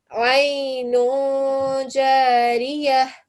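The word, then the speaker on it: عين جارية: And here as well, even though you have a tanveen, you will still give it a nasal sound because Jim is not part of those letters that we've just looked at. So Aynun Jariyah.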